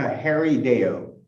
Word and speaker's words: Harrideo: Harrideo? Yes, sir. It's a Harrideo. Harrideo. Okay. I'll probably keep butchering that. I apologize if I do from now on. It's fine. Thank you for trying. Okay, Mr. Harrideo.